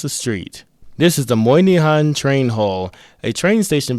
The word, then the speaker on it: Moynihan: This is the Moihan Train Hall, a train station building whose name I can't seem to pronounce. Moahan Trainh Hall. Ah, Moahan Trainh Hall.